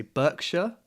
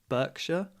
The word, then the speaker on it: Berkshire: down near bristol berkshire this one we say berkshire berkshire no idea honestly in the middle okay not